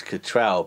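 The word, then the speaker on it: Cattrall: beautiful kim uh cattrill do you pronounce it catcher or catrell arson it's catrell but i mean yeah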